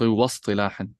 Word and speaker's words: واصطلاحا: This hamza is hamzatul wasl, so you don't pronounce it if you connect. So واصطلاحا. نعم.